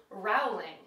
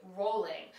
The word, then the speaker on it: Rowling: I would say JK Rowling and so I assumed that that's how she pronounces it however she says it Rhymes more with bowling and she would pronounce her name JK rolling but apparently she doesn't